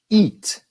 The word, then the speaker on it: eat: E isso é diferente do que I de igreja. Como nós temos na palavra comer, eat. Eat. Então nós temos it e eat. A diferença é bem sutil.